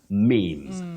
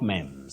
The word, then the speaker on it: memes: form mem a meme the plural memes not mems all right I'm sure